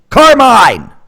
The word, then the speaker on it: Carmine: Carmine! You rhyme with 9.